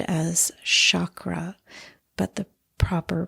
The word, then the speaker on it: chakra: refer to as the chakras. Sometimes you'll hear the word said as chakra, but the proper pronunciation is chakra. So, it's a hard c h and the r is rolled, and they are energy centers.